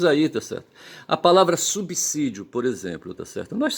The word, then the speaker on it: subsídio: E de modo que em subí em subsídio você tem que pronunciar subsídio, o s autêntico, tá certo? Com o som de c, tá certo?